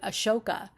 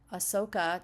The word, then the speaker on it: Ahsoka: I probably did Ashoka. Ahsoka.